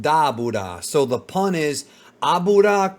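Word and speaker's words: Dabura: of course Doras is dabra even though it's dbor in the English dub it's supposed to be pronounced daura so the pun is abura daura it's all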